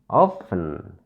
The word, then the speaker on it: often: From the word often, we find there are two syllables here. Often. There are two syllables in this word. Often. Since there are two syllables in this word and this is an adverb, so we should stress on the first syllable of. Of.